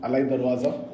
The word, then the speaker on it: Alai Darwaza: So Alai Darwaza, guys, name, the pronunciation, Alai Darwaza.